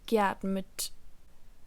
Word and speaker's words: geatmet: Portanto, no caso do particípio 2, com essas terminações de radical, um E é inserido entre o radical do verbo e a terminação T do particípio.